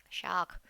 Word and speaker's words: Schach: होता है इसका शाख, प्रोनाउंसिएशन शाख, शाख है ना, जैसे कि ब्रांच होती है, शाख टहनी हिंदी में होती है ना, शाख टूट गई, तो वैसे ये दास शाख, ओके।